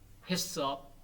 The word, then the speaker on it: HACCP: 식품 안전관리 인증 기준, HACCP, 해썹, 정확하게 우리말로는 해썹 그러면 두 자로 발음돼 가지고 쉬운데 우리말로는 식품 안전관리 인증 기준, 좀 길지만은 자, 인증 기준, 유효 기간 등등.